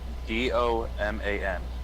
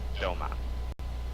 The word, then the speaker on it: Doman: Doman. It's like Damon, but Doman.